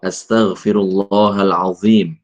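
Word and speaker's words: أستغفر الله العظيم: Yang benar bagaimana? D bukan, bukan d bukan d bukan ya bukan do astagfirullahaladzim astagfirullahalazzim ya astagfirullahaladzim ya la ilahailla anta subhanaka inni kuntu minadzolimin.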